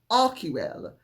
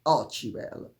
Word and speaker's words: archival: and Harry's complicity because remember this is a joint Enterprise with arquival or as they will mispronounce it archival so Megan and Harry